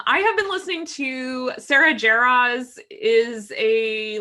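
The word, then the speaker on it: Sara Jarosz: and i did not know that's how you pronounce her name so it's sarah jarraz thank you for helping me with that i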